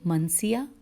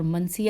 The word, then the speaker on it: منسیہ: کا عنوان ہے ریح منسیہ اور ریح مسخیہ. ان کے آپ کو میں ہجے کر دیتی ہوں. رے یہ ہے اور زیر ہے، اور منسیہ ہے میم نون سین یہ ہے، اور اس کے بعد